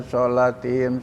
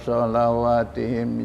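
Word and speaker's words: صلواتهم: kan shatihim shatihim tetapi di dalam wau itu ada barisnya ah jadi di lain-lain sana memang bacanya shatihim tetapi di ayat ini adalah walladzinaahum ala shawatihim yukhafidun wa itu adalah jamak daripada salat jadi dibaca shawatihim yukhafidun di situ bahwa sesungguhnya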